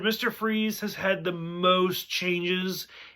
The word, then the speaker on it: Fries: it's victor freeze but it's spelled like fries it's f-r-i-e-s but it's german so it's pronounced freeze but like that's from